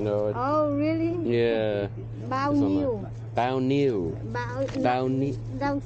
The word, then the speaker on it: bao nhiêu: Oh, bao nhiêu? Bao nhiêu? Not n. Yeah. Not n. How do you say it? N and h together.